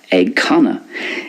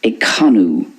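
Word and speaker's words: ag canadh: It's pronounced ag canna in Munster and in Connacht. But in Ulster, it's more like ag canú. Ag canú. Because very often the ADH in Ulster makes an oo sound.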